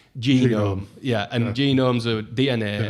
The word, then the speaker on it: Genome: So it's pronounced Genome.